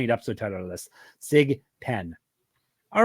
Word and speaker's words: SGPN: How would you pronounce our code, Gumby? SIGPIN.